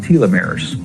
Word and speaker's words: telomeres: of DNA that are called telomeres or telomeres that pronounced both ways they become riddle as